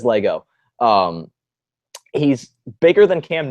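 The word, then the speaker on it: Lagow: got Richard Lego Lego I don't quite know how to pronounce his name um but it's la gowa think it's Lego so josh is gonna let me know yeah Lego ok it is Lego um he's bigger than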